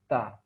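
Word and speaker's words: ت: Kemudian huruf berikutnya adalah huruf ta. Huruf ta, makhrajnya dengan menyentuhkan ujung lidah kita dengan gusi gigi seri bagian atas.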